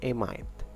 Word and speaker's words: amide: groups to study which is a mean and a mind that's how you pronounce it okay for a mean is a